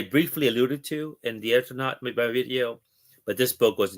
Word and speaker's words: Eternauta: You've done a video on the Ethernaut, or I don't know how to pronounce it properly. Yes, And it's Spanish Eternauta, but the Phantom and Fantomas.